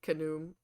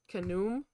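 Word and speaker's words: Khnum: I'm random I didn't really talk much about canum to be fair um I even though it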